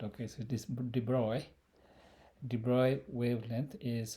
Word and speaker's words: de Broglie: a D bro uh it's a French name so whole bunch of thing written down without pronouncing them it's not drogue le it's not that okay so this de Bruy de Bruy wavelength is